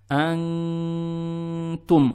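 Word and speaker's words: أنتم: Мы произносим букву «н» , пряча её в нос. То есть «антум».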